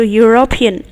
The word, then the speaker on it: European: If you can see European, even if it is starting with U, it's still making the sound of Y. EU sounds like U. So European.